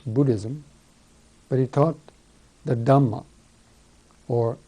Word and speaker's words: Dharma: but he taught the dhma or Dharma as it's pronounced in Sanskrit and dhama is a